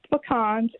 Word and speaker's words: pecan: Well, it's pronounced pecans. It's French. Pecan. Visualize. You can't say that because you pee in a can.